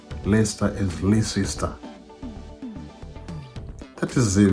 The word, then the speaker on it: Leicester: But you have to learn to pronounce Leicester, not Leicester. But that is how it is written. It is written Leicester, but it's pronounced Leicester.